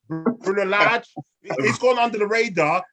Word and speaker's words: Lage: Bruno Lange or whatever. No, it's Bruno Lage. Bruno Lage.